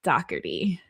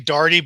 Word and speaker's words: Daugherty: It's it's actually Dardy, but don't worry, I'm used to it.